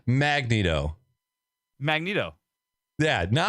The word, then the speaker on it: Magneto: Magneto. Yeah, now Like you're that? saying it right. But before you were saying Magneto.